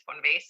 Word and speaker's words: von Weissenberg: I mean, my last name is Fonvas and just pronounce it in Swedish.